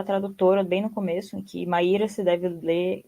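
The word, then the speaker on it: Maïra: Maira se deve ler deve ler como Maira com trema no francês né ela Mud grafia também assim como no macunaima também aconteceu isso mauna escrito com o u i trema para ficar na pronúncia parecida qu português então nessa nota da tradutora ela explica que maa se lê Maira e que os termos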